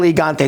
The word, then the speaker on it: Gigante: El Gigante, not Gigante. You don't say it. It's a soft G in Spanish, my Oh, friend.